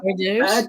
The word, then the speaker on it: hors d'oeuvres: Hors d'oeuvres instead of hors d'oeuvres. Oh, hors d'oeuvres. You always said hoard It's yours.